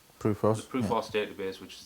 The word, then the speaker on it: PRUFOS: So I'm with Gary Heseltine, who initiated the is it pronounced PRUFOS? PRUFOS.